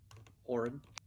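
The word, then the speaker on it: Auran: ericocra and then uh is it pronounced arun a-u-r-a-n as well oren warren there you go so the the our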